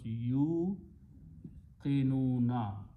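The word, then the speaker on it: يوقنون: And again, because you put a dhamma here, this ya sound changes into the sound of wow, so it becomes yu qinuna. There, this wow is to be pronounced. This wow is not that wow we put for the chair for the hamza.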